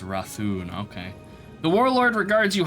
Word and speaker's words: Rathun: Oh, it's pronounced Rathun.